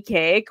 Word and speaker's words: Kaake: of you that don't know Bonnie cake which she we talked earlier she's like my name's pronounced like birthday cake um but I was